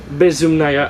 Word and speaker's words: Bezumnaya: In your last album, we have a song called Bezumnaya. I'm sorry for the pronunciation. That's right. That's right. Nailed it. You nailed it.